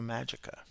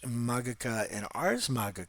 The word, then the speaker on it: Magica: You can generally see that in Magica, I could get rid of that soft G. An ecclesiastical Latin speaker, and I have to get used to that classical Latin.